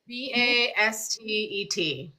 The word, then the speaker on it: Bastet: So say a little bit more about so is how do you spell that? Basht? Bastet.